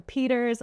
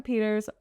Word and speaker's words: Pietersz: But yeah, it's just Pietersz all across the board. And my last name is spelled differently than you would think. It's Pietersz.